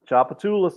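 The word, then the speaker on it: Tchoupitoulas: think you guys just call it chop there choppatoulis choppatoulis that's it okay yeah so we were we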